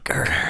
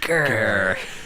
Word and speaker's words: Ghur: Ghur. You got to say it like that. Yeah. Ghur.